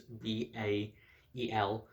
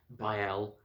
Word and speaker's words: Bael: good character, and yes, that is how his name is pronounced. His name is Bael, Bael, as in Bael, the King of Hell from the Oscar shirt, or the Lesser Book of Solomon.